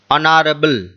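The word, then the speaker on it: honourable: 10 নম্বরে আছে Brutus is dash অনারেবল man, Brutus একজন সম্মানীয় ব্যক্তি, অনারেবল মানে হচ্ছে সম্মানীয়, অনারেবল, কিন্তু এখানে এই স্পেলিং এ কি আছে এইচ, মানে কনসোনেন্ট আছে, কিন্তু উচ্চারণের সময় কি আসছে অনারেবল ওয়া, অর্থাৎ স্বরবর্ণ মানে ভাওয়েল আসছে।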